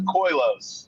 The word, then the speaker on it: Koilos: So the proper way to say the name or the band name is Koilos.